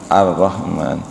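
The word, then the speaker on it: الرحمن: Nah, apabila dibaca tebal atau tafhim itu kena ada fathah. Ju seperti ar ar arrahman gitu. itu tebal karena ada patahnya, ada tanda arrahman kan ro patah arrahman bacanya bismillahirrahmanirrahim jadi dibaca tebal tafhim.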